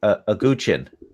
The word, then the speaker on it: guqin: I think it's a guqin. Guqin. It's a plucked 7-string instrument. It's spelled Guqin in the translation.